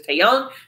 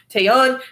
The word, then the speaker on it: Taeyang: be chill like Joey was with taya do pronunciation is Taeyang Taeyang and pee huh I would try to be